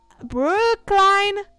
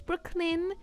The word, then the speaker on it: Brooklyn: class, and be like, Brookline. Actually, miss, it's Brooklyn.